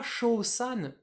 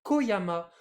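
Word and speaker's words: 小山: chaud du coup ici c'est pas chaud San non c'est Koyama parce que ici petit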